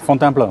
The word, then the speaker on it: Fontainebleau: Tomorrow morning I'm leaving for Fontainebleau, is that it? How do you say it? Fontainebleau, yeah.